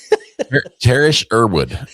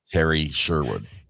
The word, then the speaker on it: Terry Sherwood: Terrish Erwood is is how I read that. Even though you said I'm a Sherwood and it's Terry Sherwood.